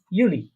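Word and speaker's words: Juli: তারপরে দেখেন জুন, জুলাই, এই দুইটা উচ্চারণ হবে ইউনি, ইউলি। ইউনি, ইউলি। হ্যাঁ, জুন জুলাইকে কি বলবো আমরা? ইউনি, ইউলি।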